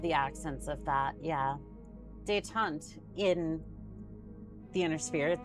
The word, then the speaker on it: détente: How's this word pronounced? Détente. One more time. Détente. Détente.